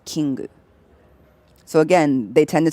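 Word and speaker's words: キング: And then king is kingu.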